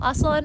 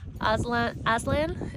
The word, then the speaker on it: Aslan: So Aslan is how you say it in Turkish. Aslan is how you say it in English. I'm doing the Turkish version.